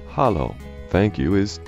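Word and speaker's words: halló: or daughter daughter 13 hello and Icelandic is pronounced Hollow thank you is talk yes is yah no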